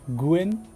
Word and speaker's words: Gunn: 戦おう Okay, he pronounced more towards the Japanese sound of Guen, G-U-E-N, Guen, which is more similar to his Chinese counterpart, Guen.